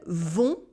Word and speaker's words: vont: Ils vont. It is a on sound with a silent T.